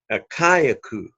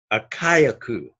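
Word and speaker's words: Ἀχαϊκός: that word is akia in the greek it is a kayak ooh a kayak ooh a kayak ooh so you pronounce the alpha as well as the eyota in this particular word I mentioned last night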